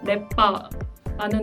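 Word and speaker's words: lepa: 단어로 예를 들어보자면 세르비아어에서는 레빠라는 단어가 예쁘다라는 뜻인데요. 크로아티아어에서는 이 단어가 리에빠로 발음이 된다는 이런 옛값이 추가되는 이런 차이점이 있고요. 또 세르비아어에서는 보다라는 단어가 비데띠인데요.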